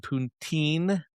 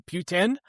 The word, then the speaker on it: poutine: Also, I learned, I think the proper pronunciation of poutine is actually poutine, because I went to a bar in Philadelphia that had a chef from Montreal, and the bartender pronounced it like that. So I think that's the way you have to pronounce it, is poutine.